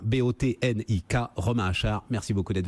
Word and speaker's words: Botnik: avec les clients aulas ça s'appelle botanique comme ça se prononce avec un car à la fin bo tn ik romain achard merci beaucoup